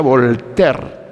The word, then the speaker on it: Voltaire: abogado francés se escribe bolt aire pero se pronuncia a voltaire bueno es un personaje contradictorio si se quiere